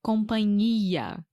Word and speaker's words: companhia: na minha humilde opinião companhia aérea deve ser companhia na verdade NH então o companhia que a gente está falando em questão se escreve c o m de Maria P.A n h i a né então esse NH no meio deveria ser companhia linha por exemplo minha